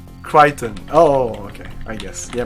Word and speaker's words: Crichton: In the US, we pronounce his name Crichton. Oh, okay, I guess. Yeah, Michael Crichton? It's fucking Christian, okay?